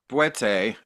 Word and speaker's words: Bwiti: Bwiti? How should I Yeah, say that? Boete is the Bwete. true way to say it. Bwete, Iboga work?